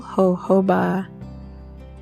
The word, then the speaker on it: jojoba: thank you strip simple jojoba and when I say jojoba it's not spelled h o h o b a it is spelled j-o-j-o-b-a so even though it has an H sound it is actually spelled with AJ jojoba is a desert plant